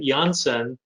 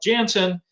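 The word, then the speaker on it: Janssen: i'm being snooty and sophisticated and whatever first pronouncing it yonsen that's the the paul johnson was a belgian physician who created a pharmaceutical company in 1955.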